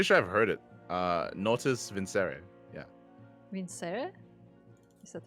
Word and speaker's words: Natus Vincere: Okay, it's apparently in Latin it's Natus Vincere.